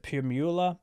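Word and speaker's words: Primula: question but mine is i think you pronounce it pure mueller it's like a cheese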